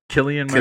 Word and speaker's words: Cillian: Killian Murphy.